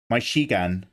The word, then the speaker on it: Michigan: First time you had a hard CH. It's Mitch. It's Michigan. Michigan. Not Michigan. My Shigan. It's like Ranasengan. My Shigan. It's Mish. My Shigan.